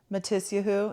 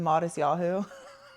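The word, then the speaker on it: Matisyahu: High school, my friend called him Matisahoo instead of modest yahoo.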